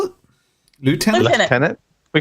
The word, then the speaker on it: lieutenant: uh I'm going to call him Lieutenant Titus but I I I think they call him left tenant because they pronounce it different and it's weird to me but whatever that's UK thing I think right leftenant yeah